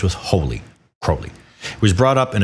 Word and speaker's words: Crowley: A lot of people say Crowley. That's incorrect. It's Crowley. It rhymes with holy. He wrote that. It rhymes with holy. Crowley.